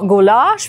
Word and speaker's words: гуляш: оператор надо мной смеется но гуляш произносится именно так конечно это далеко не